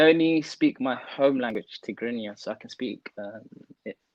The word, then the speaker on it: Tigrinya: Tigrinya.